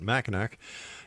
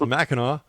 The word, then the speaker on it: Mackinac: And once again, don't make that mistake I made by calling it machin. It's macho.